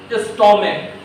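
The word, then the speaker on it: stomach: उच्चारण च की तरह होगा और CH का उच्चारण क की तरह होगा। यहाँ हम क्या पढ़ रहे हैं, इसको मोनार्क, स्टोमक, और यहाँ क्या पढ़ रहे हैं, बेंच पढ़ रहे हैं।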